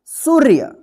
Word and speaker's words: सूर्य: रेफ की मात्रा है तो इस रेफ का मात्रा जो है ना उच्चारण होगा सु के बाद तो क्या पढ़ेंगे इसको सूर्य क्या पढ़ेंगे सूर्य देखिए